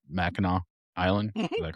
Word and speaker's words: Mackinac: We'd go up to I always I don't pronounce it right. Mackinac Island.